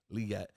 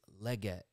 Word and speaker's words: Legette: somewhere, but he's like, guys, it's Legette, not Legette. I'm a Gamecocks fan.